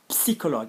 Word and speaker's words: psychologue: Notice the pronunciation, psychologue. It's like, hey guys, come here, pss, pss. Psychologue, or my family, ou ma famille.